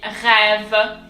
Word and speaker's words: rêve: So on the E, on the first E, it's an accent circonflexe. It looks like the rooftop of a house. And it's pronounced E. It's pronounced exactly the same as the accent grave that we've already seen. So you can't tell the difference in French when it's pronounced. So it's going to be rêve.